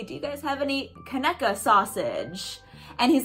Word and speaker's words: Conecuh: you guys have any Conecuh sausage? And he's like, oh, Conecuh, yeah. And he showed me to it, and I was like, oh, it's pronounced Conecuh, like Hanukkah, but with a K.